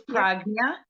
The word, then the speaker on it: Prajna: It's Pranja. The J is pronounced like a G in Sanskrit.